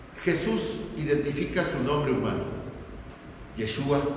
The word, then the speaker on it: Yeshua: Ahora bien, Jesús identifica su nombre humano, Yeshua, como se pronuncia en hebreo, o Yehoshua en arameo, y básicamente Josué, como debería decir, lo que significa Jehová es salvación.